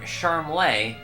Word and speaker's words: Charmles: He seems to prefer Charmles, like he's some kind of foreign aristocrat. But he's a lot closer to Charmless, if you ask me.